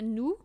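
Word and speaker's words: nous: so new is us so you don't pronounce the S at the end so it's new and not new and then you have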